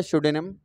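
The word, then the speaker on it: pseudonym: Option A में दिया शोडोनिम, तो बेटे यहाँ पे जो इनिशियल अल्फाबेट आपको दे रखा है पी, it will be silent, ये साइलेंट रहेगा।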